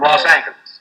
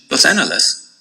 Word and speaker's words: Los Angeles: spanish accent will prevail the times advocated for the spanish pronunciation and actually printed its preferred pronunciation los angeles under the paper's masthead